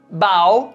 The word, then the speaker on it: bow: Mas ao pronunciarmos essa palavra, bow, aí é o cumprimento, essa reverência, né, que a gente faz.